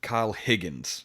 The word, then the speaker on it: Kyle Higgins: His name is Kyle Higgries, I think it is pronounced that way. Let me make sure that's how you pronounce it, so I'm not a huge D-bag. Kyle Higgins, written by Kyle Higgins and Ryan Parrott, and